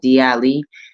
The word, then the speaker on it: DI'ALI: And first and foremost, let me just say a lot of people struggle with how to say my name, D Ali. D comes from my nickname Diamond, and Ali comes from my first name, and then is my last name.